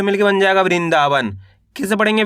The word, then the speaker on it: वृंदावन: तो किस तरीके से इसका उच्चारण करेंगे? वृण द में आ की मात्रा दा व न तो मिलके बन जाएगा वृंदावन। कैसे पढ़ेंगे? वृंदावन।